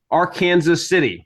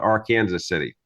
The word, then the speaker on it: Arkansas City: operates or works for Owens Bail Bonds in AR Kansas City which most people would pronounce as Arkansas city but in Kansas we prefer to call it R Kansas City also we go by the AR Kansas river